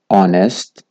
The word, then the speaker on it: honest: بیشتن H is silent whenever it comes before ON at the beginning of the words. چگاه دست بیکا کلمات دادید H O و N هویتن H نهایتا خواندن. بونمونه honor, honest, honesty.